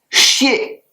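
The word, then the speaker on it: 谢: Il se prononce chier. X I E 4e ton et il s'écrit de la manière suivante.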